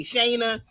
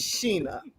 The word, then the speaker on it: Sheena: So you have to say, I want to say Shayna. It's Sheena.